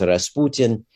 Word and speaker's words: Rasputin: that and Rasputin uh in Russian pronounced Rasputin is a fairly common uh surname